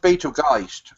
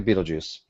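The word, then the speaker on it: Betelgeuse: pronounced Beetlegeist actually. No, I like a Beetlejuice.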